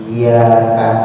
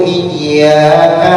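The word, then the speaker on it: إِيَّاكَ: Nah seperti iyyaka dibacanya dengan tahfif ya-nya. Tahfif itu ringan, berarti nggak pakai tasdid. Iyyaka na'budu wa iyyaka nasta'in. Dengan tahfif nggak pakai tasdid ya, berarti kurang tasdidnya, tidak sah sekali.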